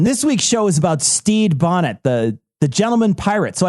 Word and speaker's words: Stede: This week's show is about Stede Bonnet, the gentleman pirate. So I figured we'd just beat him to the punch. It's pronounced Stede, but go ahead.